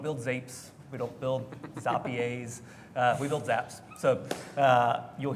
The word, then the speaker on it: Zapier: How do you pronounce the company name? I've gone all the way from Zapier for the Canadians, Zapier in here, or French folks. Oh. It is Zapier, and the easiest way to remember it, Wade had to